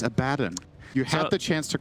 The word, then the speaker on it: Abaddon: Abaddon not level 6. Good. But he will be shortly. You said Abaddon again. It's Abaddon.